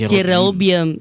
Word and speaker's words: Jerobium: It's not, it's Jerobium.